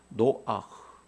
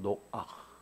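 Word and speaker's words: נֹחַ: 그 독일어나 불어에서 이런 목젖 소리 있죠. 그것이라고 보면 돼요. 노아흐, 두아흐라는 말에서 나온 노아흐, 안식하다, 안식, 이런 뜻이죠.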